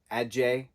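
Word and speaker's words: adze: that person is still in there but the Ajay a d z e is how it's spelled but it's pronounced a d j e h Ajay so the Ajay attached to the brain and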